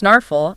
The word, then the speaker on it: snarful: That's s n a rf u l pronounced snarflle at checkout.